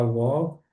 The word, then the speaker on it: walk: Não pronuncia esse o L aqui. E o A tem som de O.